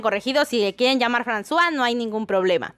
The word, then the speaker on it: François: mencionar y es que me dijeron que no se pronuncia franco y sino françois pero saben que no